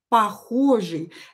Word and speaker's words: похожий: This is why I wrote «и» here, although I pronounce «ы» and you hear «ы». Похожий.